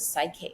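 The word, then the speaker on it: PSYCH-K: found subconscious change with Psyche. Psyche is spelled PSYCH/K, stands for mind keys.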